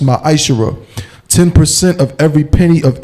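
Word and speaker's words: מעשר: You can find this in Numbers 18 and 21, and Malachi chapter 3, verse 8 through 10, means 10th in Hebrew and is pronounced ma'ashara.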